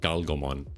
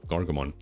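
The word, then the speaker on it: Gargomon: Um, Gargamon again. Gargamon. I had to ask cuz I used to call this one Galgammon with like an L instead of an R. Um, but no, Gargamon.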